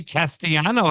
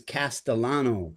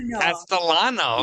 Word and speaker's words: Castellano: It's the Italian pronunciation which is Castellano. There you go. Castellano.